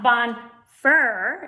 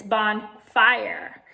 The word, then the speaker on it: bonfire: that is silent but it's telling the eye to say its name so it's not bond fer its bond fire so it makes that